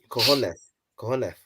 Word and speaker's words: cojones: You know, in Spanish you don't pronounce the S. Cojones.